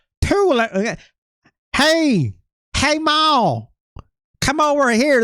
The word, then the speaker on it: Tulou: Tulou. Tulou. Okay. A little softer on the U, right? Tulou. There's the direct English one that's like not Tulou.